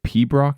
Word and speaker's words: pibroch: Can you think of any reason why some people might find the pibroch genre of music a tad boring? Piberichad, pronounced pibroch, is a classical music